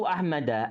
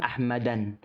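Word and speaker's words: أحمدَ: Contohnya adalah ra'aitu Ahmada, ana melihat si Ahmad. Di sini nggak boleh diucapkan Ahmadan, nggak boleh diucapkan Ahmadan. Karena kata Ahmad itu merupakan isim ghairu munsharif, arti tidak bisa tanwin.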